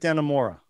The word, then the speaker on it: Dannemora: Escape at Dannemora. Am I pronouncing that right, Drew?